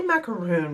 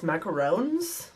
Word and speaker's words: macaron: I would say macaroon, but it's actually spelt with just one O and then an S actually. So it's macarons, I guess.